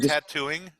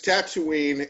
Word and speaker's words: Tatooine: tattoo training well what's is the pronunciation TN or T I think it's t Tatooine it's Tatooine and you there's cut